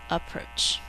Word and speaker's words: approach: this is a ch when we say approach we only hear one